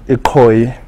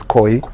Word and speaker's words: Ikoi: They call Ikoi, and of course white people couldn't pronounce that. Today you know it as Koi River.